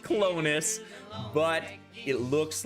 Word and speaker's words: Clones: honest i have to be honest it is pronounced clonus it's pronounced clonus but it looks like the word clones which